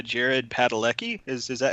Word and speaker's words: Padalecki: And I'll say Jared Padalecki. Is that how you pronounce his last name?